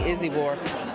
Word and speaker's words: Izibor: Everybody seems to be pronouncing her name wrong, and they corrected me, Izibor.